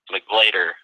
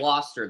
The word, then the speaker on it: McGloster: If he does declare, I'm going to say Jamar McGlader, or how do you say his name out of Syracuse? Jamar McGloster, the Syracuse offensive lineman.